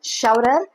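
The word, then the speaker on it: Scheuerer: I need to check how to pronounce sher like saying cher. Huh? Starting with the sh sound.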